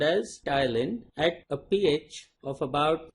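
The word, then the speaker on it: ptyalin: acted upon by salivary amylase also called as tile in T is silent okay it's also called as styling at a pH of about 7.5 and it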